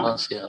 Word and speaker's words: parfait: Pour moi, Pour moi, c'est absolument parfait. c'est absolument, okay, rounding at Absolument the end. parfait. Pour moi, c'est absolument, pour moi, c'est absolument parfait. C'est absolument parfait. No, R is silent.